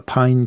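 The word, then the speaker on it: パイン: Japan, but it's the Pine Company, and they spell it katakana. So it's pronounced pine.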